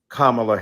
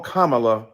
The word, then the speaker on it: Kamala: to the congresswoman who insisted upon misnaming mispronouncing kamla Harris oh Jesus you call Melania Melania do you call Ivanka Ivanka then call Kamala Kamala then call vice president